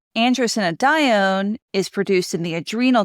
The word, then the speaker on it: Androstenedione: And if somebody else has a better pronunciation, you can leave me a message. All right. Androstenedione. Androstenedione is produced in the adrenal gland, and then